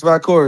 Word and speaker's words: Valkyria: are Oh yeah, it's pronouncing her name. Valkyria. It's Valkyria.